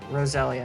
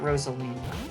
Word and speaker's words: Roselia: out rosa roselia yeah rosalia not rosalina i think i pronounce it rosalina sometimes like the mario character but this is rosalia so i think two